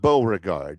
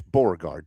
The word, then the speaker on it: Beauregard: And it's not Beauregard. It's Borgard two syllables.